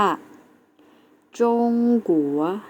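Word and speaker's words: 中国: ที่ 2 นะ คะ คือ ประเทศ จีน แล้ว จะ ออก เสียง ว่า จง กั๋ว นัก เรียน เรา ออก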